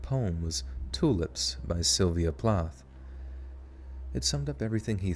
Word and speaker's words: Plath: i say plath right is it plot plot it's plot you said it wrong you said the thing wrong plath it is plath eat